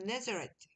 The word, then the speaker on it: Nazareth: Jesus 하고 그 다음에 나사렛으로 우리가 한글로 읽었지만 영어로 읽을 땐 그래도 영어식처럼 발음을 해줍시다. This is Jesus, the prophet from Nazareth in Galilee.